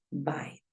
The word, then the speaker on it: bite: Bite es mordisco y cambia la vocal porque solo hay una consonante entre la E muda y la vocal que me interesa.